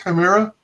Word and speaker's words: Chimera: by our very special guest uh is it pronounced chimera oh yes sir and that is an amazing